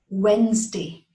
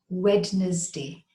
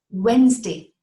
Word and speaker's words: Wednesday: It is Wednesday. Wednesday, not Wednesday. The D is silent and it does not have three syllables, not Wednesday. It is Wednesday, two syllables, Wednesday.